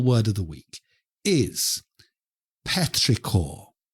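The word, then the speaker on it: petrichor: the week wonderful word of the week is petricor petricor okay petricor is spelled p e t r i c h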